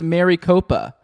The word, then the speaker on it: Maricopa: It's pronounced Maricopa.